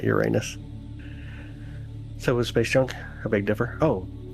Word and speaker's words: Uranus: And by the way, it's pronounced Uranus, not Uranus.